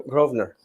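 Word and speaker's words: Grosvenor: Gro do you say grovner Gro groer so you don't pronounce the S it's silent it's like Sesame Stree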